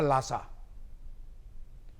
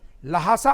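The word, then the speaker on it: ल्हासा: उठा और मैंने कहा लासा। और मुझे याद है स्कूल इंस्पेक्टर ने कहा, यस यू are intelligent boy, लासा। जबकि उसका शुद्ध प्रोनाउंसिएशन लासा नहीं है, लहासा है।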